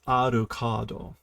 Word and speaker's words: Alucard: kirifuda against Monsters now notice he actually says arocado he pronounces the uru whenever Integra says it it's just a kado OS okay so he